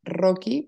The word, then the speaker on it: Rocchi: n y guión bajo mi apellido que es Rocky pero se escribe rochi con doble c y en mi página